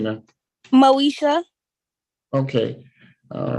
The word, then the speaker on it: Moeshia: your first name man Moesha okay all right it had an eye in it so I didn't know if you pronounced the moeshia so no that's m-o-e-s-h-i-a Miss